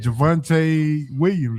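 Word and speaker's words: Javonte Williams: Is that Javvante Williams, right?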